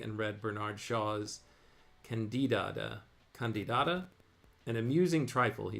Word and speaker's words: Candida: Bernard Shaw's C candida or am I saying that right candida yes you're saying it right it's candida a play by George